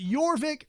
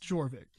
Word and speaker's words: Jorvik: my favorites that's fair that is your Vic not pronounced Jorvik